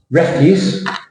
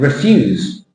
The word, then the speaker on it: refuse: record about this one refuse meaning garbage and refuse meaning said stress on the syllable is different it's called your tones